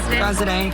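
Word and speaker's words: Graziadei: Grazidi? Grazidi? Is it Grazday? Grazday. Does someone tell us how to say his name? How do you say Joey's last name? Yeah. Grazday? Grazday.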